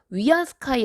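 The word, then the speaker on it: 위안스카이: 군대를 이끌었던 사람이 중국의 이제원 세계라고 지듯이 그 발음으로는 위한 스카이 라고 불리는 사람인데요 중국사 를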